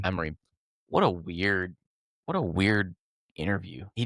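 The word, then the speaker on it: Amorim: The post match, what Amarin is that? How you say his name? Amarin or something? Ruin Amarim. Amarim.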